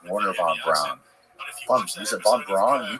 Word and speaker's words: von Braun: Like, one of the things that blew my mind about Operation Paperclip was that these people like Werner von Braun, is it von Braun?